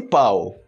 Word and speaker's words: pau: o seu português bom Espero que depois de tanto pão e pau pau pau pau pau pau você tenha notado a diferença na pronúncia dessa palavra se você não notou